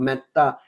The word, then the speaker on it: metta: Now, meta in this case is spelled as M-E-T-A, meta. Meta awareness, not meta, M-E-T-T-A, that like in meta meditation. So it's meta awareness, M-E-T-A.